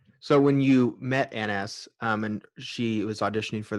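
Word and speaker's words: Annes: It's Anne S, actually. Anne S. Okay. It's down as Anne in the promotional material, but actually it's Anne S. It's a typo. So when you met Anne S, and she was auditioning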